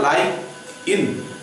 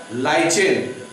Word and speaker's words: lichen: तो लाइकेन शब्द जो है लाइक इन से बना, उसका प्रोनाउंसिएशन होता है लाइक इन, उसी से शब्द बना है लाइचेन। तो बेसिकली इसको लाइकेन भी कहते हैं, लाइचेन भी कहते हैं।